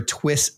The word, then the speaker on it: Twi$tz: Is it Twist or Twist?